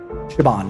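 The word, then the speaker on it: Siobhan: younger and spelled exactly like that s bahang Shaban is how it's pronounced it's actually a want to say it's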